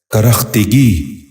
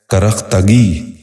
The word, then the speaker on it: کرختگی: غور سے سنیے، کرچھا۔ پانچواں لفظ ہے کرختگی۔ یہ غلط تلفظ ہے، درست تلفظ ہے کرختگی۔ دوبارہ سنیے، کرختگی۔ بچوں